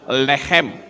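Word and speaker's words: לחם: Lamet, het, mem. Itu membacanya lehem.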